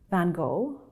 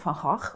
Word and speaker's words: Van Gogh: I will refer to him as Vincent van Gogh, or Van Gogh, because that's the correct Dutch pronunciation, but he himself was fine with Van Gogh.